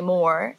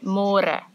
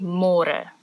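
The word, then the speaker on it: môre: to read more because in English it's spelled like more so don't say more say more and the older Generations Africans people they might say it a little bit differently and they sometimes say but it's more commonly used as Mora lacquer nice delicious the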